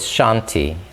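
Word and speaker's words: शान्ति: is shanti shanti and there's a long a in sean t and there's a little uh hiccup kind of at the end where you give a little extra emphasis at the eye so it's chanti now there's a peace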